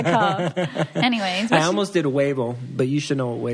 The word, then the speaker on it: huevo: But the H is silent, so huevo.